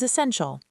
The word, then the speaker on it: essential: Another important word is essential. It's pronounced essential and the stress falls on sen.